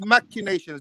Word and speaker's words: machinations: The word is pronounced machinations.